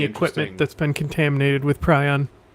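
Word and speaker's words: prion: Any equipment that's been contaminated with pryon. Ah or pron. I think the proper pronunciation is Pon, but that.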